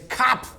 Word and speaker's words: Kopf: You can imagine, tacos and sauerbraten and Tacos and I'm German with a last name like Kopf. That's how you say it in German. It's Kopf.